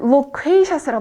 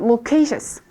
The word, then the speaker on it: loquacious: 그래서 2번은 locatious라고 발음합니다. loquacious. 3번은 eloquent. 발음 같이 해볼게요. 2번 loquacious.